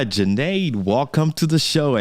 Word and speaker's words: Junaid: So my name is Junaid, rhymes with lemonade, and I am a